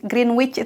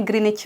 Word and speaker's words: Greenwich: Grey Greenwich Mean Time Greenwich tapi dibacanya Greenwich Mean Time kalau dikatakan